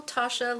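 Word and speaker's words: Tatcha: This is the beautiful Tasha Luminous Skin Dewy Skin Mist.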